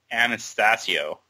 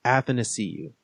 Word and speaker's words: Athanasiou: He said it's Athanasiou. So it's like, happened to see you. Exactly, yeah. But without the H.